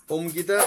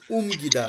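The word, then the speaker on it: 옮기다: Right, ওমগিদা। এই যে young এর সাথে ও আছে, ও নিচে আছে রিয়ল মিয়ম, আমি মিয়মটা উচ্চারণ করব, তাই হয়ে গেল ওম, তারপরে গি, তারপরে দা, ওমগিদা।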